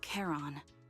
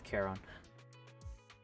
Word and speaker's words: Charon: You can call me Charon. I said it wrong. It's Charon.